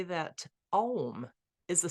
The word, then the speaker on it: Om: The first letter A is the root sound, the key, pronounced without touching any part of the tongue or palate. M represents the last sound, being produced by closed lips, and the U rolls up from the very root to the end of the sounding board of the mouth.